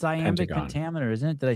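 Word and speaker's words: iambic: It's amic pentameter, isn't it? Did I say it right? Aamic. Yeah. Aamic.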